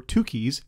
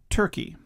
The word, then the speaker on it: Tukey: post hoc test or Tukis HSD. The correct pronunciation is Tukis. Students are often getting this incorrect. It's Tuki, not Turkey. Now the two keys post hawk test involves this formula.